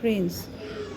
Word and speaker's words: prince: PR e n Prince e is silent here Prince now PR e n